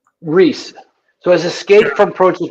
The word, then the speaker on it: Riese: the next one now I called it project Raisa but I must have been mispronouncing it's okay it's Rhys so as escape from approaches Riza Riza and Riza is uh it's an actual